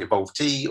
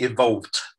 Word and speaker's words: evolvT: because uh you know i can be guilty of saying evolve t or but it's clearly evolved right yeah exactly it's like the participial murder faults like the verb um so at evolved we actually held two